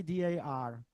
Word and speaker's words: D.A.R: Why D.A.R? D.A.R is acronym, but not only. D.A.R is on the one hand, this acronym means also in the Czech pronunciation dar. It means gift.